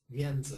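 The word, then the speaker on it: 面子: very conscious of faith yenza is how you say it in Chinese and this is how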